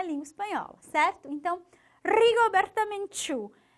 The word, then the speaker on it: Menchú: Desafio aí esse R forte do começo, Rigoberta, Rigoberta e Menchú. Esse final que também é forte, né?